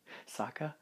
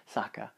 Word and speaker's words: Sokka: great characters it's funny soccer is great Sokka Sokka it's a pronunciation there's still a I